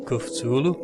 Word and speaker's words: Cthulhu: - Lew cooked Zulu so that's how they pronounce catullo here kuphulu they mop marks people